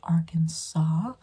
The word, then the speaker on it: Arkansas: not like Kansas it's its own State it's pronounced Arkansas because the AR can saw saw and we